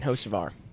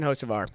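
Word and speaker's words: Hocevar: to let's do Carson hos ofar m Cen hos ofar Ken hos ofar that's right Mike Davis's is to pronounce his name right yeah we've all we've all accidentally pronounced it Ken for some reason uh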